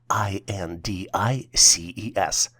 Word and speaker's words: indices: The plural version for indexes is spelled as INDICES and is pronounced as indices.